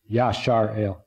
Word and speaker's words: Israel: And by the way, when Rodney said, I'm upright today, some people actually pronounce Israel Yashar-El, which means upright with God.